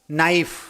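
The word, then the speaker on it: knife: उसकी शुरुआत उसकी स्पेलिंग है के एन आई एफ ई नाइफ। नाइफ मतलब चाकू। और उसमें के पूरी तरह से साइलेंट है। उसका उच्चारण होते हैं, प्रोनाउंसिएशन होता है तो एन आई एफ इनाइ ऐसा होता है। जबकि के साइलेंट है।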